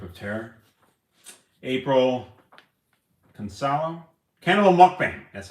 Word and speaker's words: mukbang: April Consalo, Cannibal Mukbang. That's how you say it. Okay. Cannibal Mukbang.